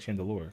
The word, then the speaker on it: Chandelure: Chandelure or chandelier but you say it like Chandelure cuz it's like a ghost and he's like that's